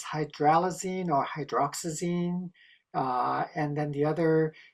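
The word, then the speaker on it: hydroxyzine: Yes, sorry I kind of hauled through that slide and it's hydroxazine not hydraazine.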